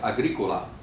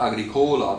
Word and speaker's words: agricola: If the penult, if the next to the last syllable is long, then it's pronounced on that syllable, all right? Otherwise, for example, you have a name like agricola, right? Well, it's not agricola because it's not a long syllable.